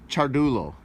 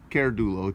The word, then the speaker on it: Ciardullo: Yeah, and I'd like to also say that it's Ciardullo, not Ciardullo, Ciardullo. At least that's how it's pronounced.